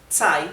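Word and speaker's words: 在: que t significa en vean como Z se pronuncia T T bien más adelante les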